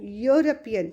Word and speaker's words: European: Here students, sound is Y-O-O, European.